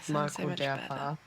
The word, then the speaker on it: Marco Derpa: If you pronounce it in the German way, it's Gerd Hofmann and Marco Derpa. So yes, I did butcher them. Yeah, that is the correct way to pronounce. Don't listen to me. But from reading, it's maybe not the obvious way to pronounce it.